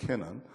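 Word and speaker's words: Canaan: 아니, 이스라엘 백성들이 출애굽을 해서 가나안까지 가는데, 가나안을 영어식 발음으로 캐난이라고 그러는데, 캐난.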